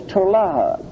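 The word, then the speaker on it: tola'ath: The Hebrew word there is tolaha, which is T-O-L-A-A-T-H, which is hard to difficult to pronounce in English.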